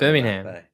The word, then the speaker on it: Birmingham: Birmingham. Yeah, you're over syllabbling it. Birmingham, mate. Birmingham. Birmingham. Birmingham. You're adding a syllable Birmingham. that isn't there.